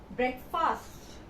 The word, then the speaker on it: breakfast: friend it is not breakfast it is not you will not read this as fast we are the a word is silent is silent and you